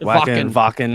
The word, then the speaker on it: Wacken: I think that's how you say it. Wacken. It's Wacken. Yeah, I've heard a couple different ways.